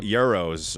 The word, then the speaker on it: gyros: And dude, but I'm telling you, bro, she's Gyros are Greek, right? Yes, it is. Yes, it is. Yes, it is. Oh, my bad. The camera I think they're guy's pronounced laughing. Euros or something like that.